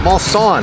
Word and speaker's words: Mulsanne: Mulsanne.